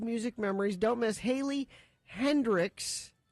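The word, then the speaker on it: Heynderickx: memories don't miss Haley Hendricks it's spelled really weird though h-e-y-n-d-e-r-i-c-k-x and wouldn't wouldn't that be Hendrix I think so I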